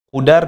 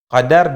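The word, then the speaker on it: قدار: Para ulama ahli tafsir menyebutkan namanya adalah Qudar bin Salif, atau bahagian membacanya dengan Qadar bin Salif dengan fathah.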